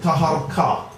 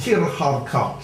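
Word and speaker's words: Taharqa: Now, ruling from Nuri, we get a very great king called Pharaoh Taharko. Some people pronounce it Taharka. Now, the same person's in the Bible where it's spelled Tirharka, same person.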